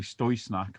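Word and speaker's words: Støj Snak: Snak for ages, but I'm told by Tree that we've been saying it wrong, and Niels has been too polite to tell us, and it's actually Stöj Snak, but it's Snak.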